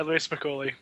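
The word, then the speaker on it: Louie Spicoli: Louis Spicoli, is that how you pronounce it? Yeah, Louis Spicoli.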